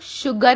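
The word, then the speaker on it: sugar: सबसे पहला वर्ड आपका है शुगर, उसमें हम लोग शुगर बोल रहे हैं, तो ये जो है शलगम वाले श का उच्चारण है।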